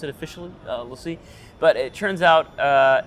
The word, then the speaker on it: LaCie: It's Lacie. Lacie. I asked officially, and they said Lacie, okay.